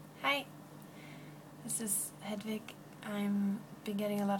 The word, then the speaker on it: Hedvig: My name is Hedvig, not wo, in Swedish. But if you're an English speaker, you already have this name, and you call it Hedvig, probably. And for English speakers, it's a head and a wig, and you're set.